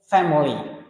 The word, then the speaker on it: family: Check family, 2 syllables. Don't say family. Family está mal pronunciado. It's con 2 sílabas, 2 syllables, family, right?